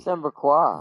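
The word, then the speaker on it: Sanbreque: As unlikely as it may seem, there are those within the upper echelons of Samberquois society Samberquois, who find that's the how you say it.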